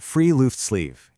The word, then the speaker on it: friluftsliv: It's pronounced Friluftsliv, and it basically means free air life.